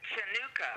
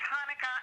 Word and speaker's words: Hanukkah: I mean, they pronounce it Chanukah. Chanukah. Yeah. Chanukah. It's Hanukkah, and the good thing